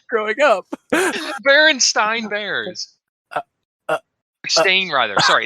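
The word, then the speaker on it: Berenstain: up berenstein bears uh stain rather sorry it's stain it's stain okay because it's spelt stain and they will be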